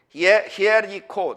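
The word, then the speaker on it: Ἱεριχώ: 히에리코, 다 같이 히에리코. 헬라어로 읽으면 히에리코예요.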